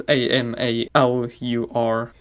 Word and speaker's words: Amalur: infatuated with Baldur's Gate at the moment, and also now Kingdoms of Amalur, or Amalur. I don't know how to say the name. It's Amalur.